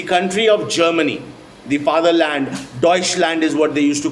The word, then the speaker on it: Deutschland: Deutschland is what they used to call them. This is the word in German for Germany. It's called Deutschland.